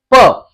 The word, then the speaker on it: प: तो यहां पर हम एक चीज को सीख चुके कि इसको प कहना है या पा कहना है।